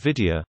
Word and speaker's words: Wiedia: In German the word Vidya, pronounced as Vidya, is an abbreviation of the phrase V diamond, which translates as like a diamond.